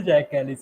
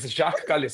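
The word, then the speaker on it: Jacques Kallis: Even I say Jack Kellis. Yeah. It's Jacqu Jacqu Kalis.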